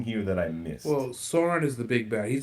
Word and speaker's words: Sauron: Well, Why it does this- almost looks like the Soren. That's not his name. How do you say the guy's name? Sauron.